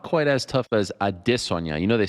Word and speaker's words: Adesanya: It's not quite as tough as Adesanya. You know they say that incorrectly. It's Adesanya, not Adesanya.